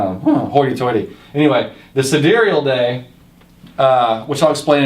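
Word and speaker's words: sidereal: and it's not it's it looks like it's pronounced side reel and when I you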